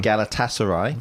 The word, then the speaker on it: Galatasaray: Um I can never pronounce this next one. Can you help me with that one? Galatasaray.